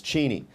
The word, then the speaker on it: Cheney: Of course, we're obligated first to express our condolences to the Cheney family. Um, in fact, this is a little known fact, but the the actual pronunciation of the family name was Cheney, but they gave up policing that a long